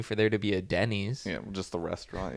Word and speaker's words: Denny: pronouncing it weird but his name is actually Denny like Denny's I thought it was his name was Danny but someone had to have been named Denny for there to be a Denny's you know just the